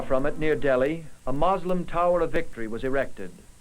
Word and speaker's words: Muslim: That, like, today we say Muslim, but back then they said Moslem with an O instead of a U.